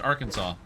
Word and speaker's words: Arkansas: Well, my understanding is that it's Arkansas because it's not specifically pronounced in English. That's not the English pronunciation of it. Like, if you were in English, it would be Arkansas, but it's not English.